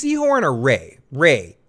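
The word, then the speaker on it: Rhea: Is it Reese Seahhorn or Ray? Ray, right? Ray Seahhorn. It's It's pronounced Ray, but it looks like Rhe E.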